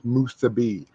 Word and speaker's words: musubi: You butchered that word. It's musubi.